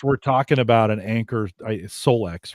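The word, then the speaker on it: Solix: course, we're talking about an Anchor, Solex, right, is how they pronounce it, Yep.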